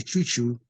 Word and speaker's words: Chu Chu: So yeah, so he called me Chu Chu, and well, in Spanish it's Chucho, you know. So I changed it to Chu Chu, CHU, as opposed to CHO, you know.